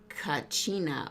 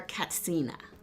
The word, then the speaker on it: kachina: their religious tradition honoring kachina or katsina depending on how you're pronouncing that which are ancestral spirits